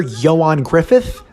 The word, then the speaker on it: Ioan Gruffudd: So many of you pointed out that the actor who plays this officer right here, Ioan Gruffudd, that's how you pronounce his name, I actually looked it up, is the same dude as Mr.